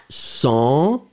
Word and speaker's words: cent: This one, Q, final Q is pronounced, so cinq. First one, cent, second one, cinq.